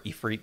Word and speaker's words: Ifrit: and rituals the summit Ifrit you know then uh or E3 depending on how you want to pronounce it uh yeah I don't